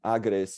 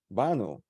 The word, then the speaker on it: Banu: way I'm from Turkey the Turkish way will be born we stress the first syllable nice yeah that Bano tell a little bit